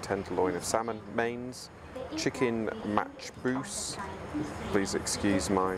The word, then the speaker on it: Machboos: Soup, roasted butternut squash soup, appetizers, Arabic mezze and smoked tenderloin of salmon, mains, chicken matchbous, please excuse my pronunciation, char-grilled fillet of beef and paneer tikka masala.